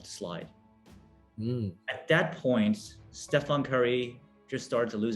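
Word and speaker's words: Stephen: was pitching from nike kept calling stefan curry steven curry and if you're laughing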